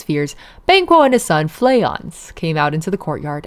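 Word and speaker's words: Fleance: Shakespearean character for more names from Shakespeare. Stay tuned on how to pronounce these names from it a bit more as Flayans. Something in between as in Flayans.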